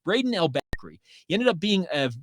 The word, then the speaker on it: Brayden El-Bakri: saw him brayden how do you say that albacry how do you pronounce that well it's brayden l backery he ended up being a really fantastic fullback